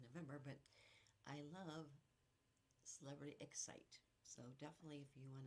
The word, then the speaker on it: Xcite: ship coming out, the Celebrity Excite, but it's X-C-I-T-E.